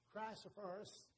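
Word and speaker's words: chrysoprasus: the ninth a topaz, the tenth a chrysophorus, that's pronounced correctly, the 11th a jacinth, the 12th an amethyst.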